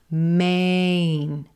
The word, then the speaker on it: Maine: We want to make sure we hear A, Maine, Maine. Sometimes that N consonant can mess with our vowels. So Maine might sound more like min, min. You want to get that full gray day, A, Ain, Maine, Maine.